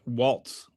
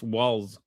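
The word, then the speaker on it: Walz: Um Trump It's it's spelled it's not Waltz, it's Walls. W A LZ.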